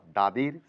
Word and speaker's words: the: অর্থাৎ দাদির সি ভি।